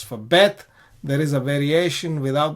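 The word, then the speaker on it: בית: So Bet is pronounced as a bilabial B sound.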